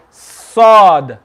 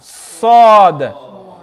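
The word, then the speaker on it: ص: the bottom and your the tip of your tongue is going to touch the bottom of your front teeth the bottom of your uh bottom teeth so sword sword say sword so can you can you hear the whistling sound sword and you should be able to feel your tongue is flat your tongue is flat on the bottom sword again sword and can you see your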